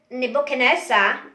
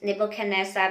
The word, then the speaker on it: Nebuchadnezzar: I think the right pronunciation is Nebuchadnezzar, because when I heard the audio from the King James Bible, it sounds Nebuchadnezzar. I think that's the right pronunciation. Nebuchadnezzar, not Nebuchadnezzar.